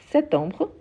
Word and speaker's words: septembre: chose avec le s il y a des gens qui ne prononcent pas le P et d'autres qui le prononcent donc on peut dire septembre septembre ou septembre septembre c'est une question d'accent donc tous les deux sont correctes ok septembre ou septembre